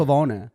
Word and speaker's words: Pavone: Pavone. It is Pavone. Yes. If we're being Italian about it.